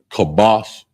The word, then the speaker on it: kabash: Kabash is K A B A S H.